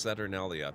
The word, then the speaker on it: Saturnalia: I thought until I read that for myself that you had mispronounced Saturnalia.